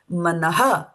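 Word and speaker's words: मनः: So here is where we put all the all the strength that we have in the morning and we pronounce it manaha mana manaha similarly so it emphasizes it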